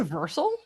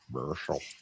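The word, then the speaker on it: Vercel: kind of assumes you're going to land on Versel by default. And so when you're running Did you just say Versal? Versel.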